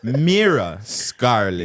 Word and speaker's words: Mira Scarlett: guy that's what the guy said yeah Mira Scarlet yes how are you doing man I'm doing